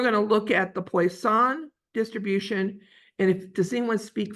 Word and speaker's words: Poisson: Then we're going to look at the Poisson distribution. And does anyone speak French? I always get his name, I'm sure, butchered. He's a French mathematician. Poisson, I think is the way it's pronounced.